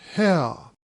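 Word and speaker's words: Haigha: happy his name is hell he pronounced it so as to rhyme with mayor I love my love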